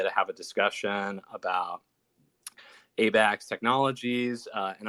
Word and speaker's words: Abaxx: have a discussion about abac's technologies uh and i won't call it a bax i'll call it abax technology somebody corrected me on